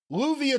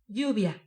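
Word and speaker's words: Lluvia: once it's you and you're calling it first louvia translates to rain so she was her name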